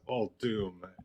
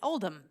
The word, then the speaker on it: Uldum: do the same thing it says all doom and so I where I was like no wait a minute my entire world of warcraft in my head I've pronounced it Oldham and now I'm glad